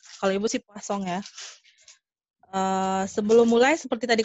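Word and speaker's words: Poisson: Ada yang poison, ada yang poason, ada yang poasong. Nah, Ibu kalau Ibu sih pelafalannya poasong karena dulu dosen Ibu bilang itu adalah ahli statistik dari Prancis. Jadi ada sengaunya poasong gitu. Tapi itu kembali lagi ke kenyamanan masing-masing, boleh pakai poison atau poason.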